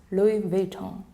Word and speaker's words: Louis Vuitton: Thus, the right pronunciation is Louis Vuitton. The key to nailing this name is to remember that the S is silent.